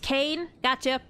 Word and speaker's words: Kane: Oh, your name's pronounced Kane? Gotcha. Kane. I'll try to remember that. If not, then feel free to remind me. Kane is like shortened for canine.